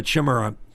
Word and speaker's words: Chimera: If you get a big diffuser on that, and I have a chimera is the correct way to say it without chimichanga.